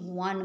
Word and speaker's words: won: এইটা WON, উইনের past form, উইন ওয়ান। আমরা ছোটোবেলায় কি শিখেছি, ওন বলতাম আমরা এটাকে, কিন্তু এর প্রোনাউন্সিয়েশন ওন নয়, ওয়ান মনে রাখবে।